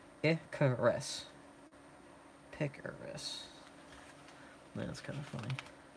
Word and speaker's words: Icarus: Icarus is pronounced Icarus.